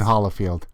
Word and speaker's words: Holifield: Ever since I was born, it's always been Hollifield. Okay. Holyfield's with a Y. I'm Holly. Is that what the difference is?